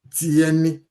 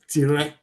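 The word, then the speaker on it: tiẹni: That's because you don't normally pronounce that R. So you just say tieni.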